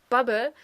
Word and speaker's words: Bappen: So we have the colloquial term Sack again, and then we have Bab, which comes from the verb babbe, which is, the way you would pronounce Bappen in my region, and Bappen is a colloquial term for kleben, which means to stick.